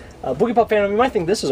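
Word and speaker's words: Boogiepop Phantom: Next is Boogie Bop Vandom. You have to say it like that because that's literally how they say it. Boogie Pop Phantom, you might think this is a really weird bootleg release, isn't it?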